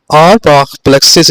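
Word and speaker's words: Auerbach plexus: तो यहां पर गौर करें नंबर फोर पे इसको प्रोनाउंस कैसे करेंगे? आप प्रोनाउंसिएशन भी सीखें यहां पे आरबा प्लेक्सिस इसे पढ़ते हैं।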